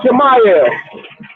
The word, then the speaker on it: Chimaev: How you pronounce his name, DJ? Khamzat Chimaev. Chimaev.